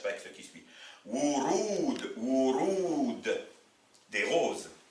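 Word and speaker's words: ورود: Remarquez ici, on a 2 waw. Un waw au début qui va forcément se prononcer wa. Et un waw au milieu qui va se prononcer ou. Parce que je viens de vous dire que le waw a 2 prononciations. Soit le wa, comme un W, soit la longue voyelle ou.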